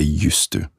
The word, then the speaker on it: used to: in an auxiliary sense we take the voice off the zed and the zed becomes an s and the d becomes a t And so we say used to And that's how we